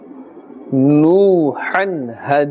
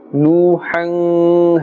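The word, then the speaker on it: نَحْنُ: well no Han Dana no hand Dana so you can have a look here no Han we are not pulling minutes stretching the sound here we are not saying new hang hey Dana do you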